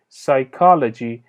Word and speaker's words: psychology: P is silence. P silent هستش و خونده نمیشه. تلفظ این کلمه به این صورت هست psychology، یعنی مطالعه سایکو.